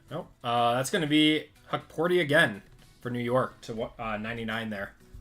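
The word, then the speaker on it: Hukporti: Huckport. That's how you say it. Huckporty. Yeah, Select's always got some funky names in it. D-Book. LeBron on the Disco. That's Şengün. Nope. That's going to be Huckporty again for New York to 99 there.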